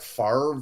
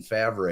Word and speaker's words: Favre: invented it fucking mispronounced, like Brett Favre spells his name FARVE. Okay, that's fucking Favre. I don't give a shit how you pronounce it. It is, yeah. Favre. Like, why is the R being pronounced before the V, sir?